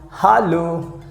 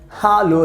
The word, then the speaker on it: hallo: useful you know that h a double l o that means in german language we pronounce hallo hallo that means you can